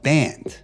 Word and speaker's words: Band: Clinton's adopted son Doug band I got band's name wrong there's no s but there's 25 different